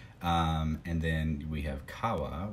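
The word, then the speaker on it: 山: But the original Japanese pronunciation for mountain is yama.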